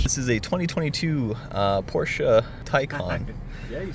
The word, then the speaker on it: Taycan: This is a 2022 Porsche Taycan.